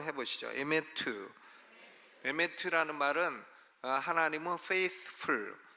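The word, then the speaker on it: אמת: 라고 합니다 헤세드 와의 매트위에 요에 매트 한번 발음 해보시죠 에 매트 매트 라는 말은 하나님은 페이스풀 에 한번 약속하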